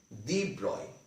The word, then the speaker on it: de Broglie: france physicist luis victor d broccoli louis victor de broglie but it is pronounced as the broy okay this is known as actually it is